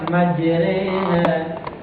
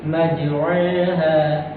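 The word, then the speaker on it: مجريها: Dibaca seperti e orang timur. Jadi bacanya itu e ya. Ya. Jadi e ya majreha ya.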